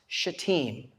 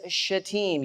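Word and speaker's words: Shittim: okay it is pronounced chateem okay in the Hebrew it is shatim you're pronouncing it the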